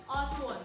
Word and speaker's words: Antoine: Antoine? Yes, good. Antoine. That's a good pronunciation.